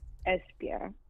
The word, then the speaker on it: Esbjerg: And the city is Esbjerg. And I'm going to spell it for you.